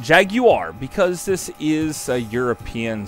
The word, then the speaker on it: Jaguar: you guys were surprised that I didn't say Jaguar I said Jaguar because this is a European sports car and that's how it's pronounced unlike the Atari Jaguar which is made